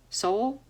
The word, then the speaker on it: Sowell: indemnify themselves and he quotes thomas sowell soul yeah that's how it's pronounced it's hard to imagine